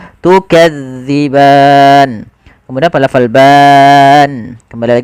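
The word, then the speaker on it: تكذبان: Za jangan dibaca dengan za, maka jangan baca tukadziban. Tapi kita bacanya tukadziban.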